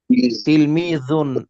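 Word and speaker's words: تِلْمِيذٌ: তিলমিজুন একজন ছাত্র। জিব্বার আগা উপরে দুই দাঁতের আগার সাথে লাগাইয়া, তিলমিজুন একজন ছাত্র।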